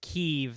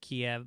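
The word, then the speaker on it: Kyiv: said the correct pronunciation of ukrainian capital is kiev that's how ukrainians pronounce it i know i think we we might have said kiev by accident i always say kiev so because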